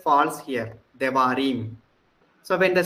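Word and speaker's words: דברים: So suppose we make a plural of it, it becomes Devarim. devarim. The first syllable R sound is reduced.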